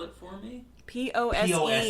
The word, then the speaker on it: Pose: POSE, you know, like strike the pose. Oh, I thought you were saying like pose, like POES, like Pose Tavern.